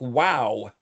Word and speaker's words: Vav: The Vav man, V-A-V. Some people I also write UAW because some people say it wasn't pronounced as a V. So it's like wow, UAW, the wow factor, the Vav man.